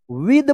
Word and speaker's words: with: Right, WITH, क्या पढ़ेंगे इसको, फटाफट पढ़िए, विद पढ़ेंगे, विद, विथ मत पढ़िएगा, विद अ फाइन पेन।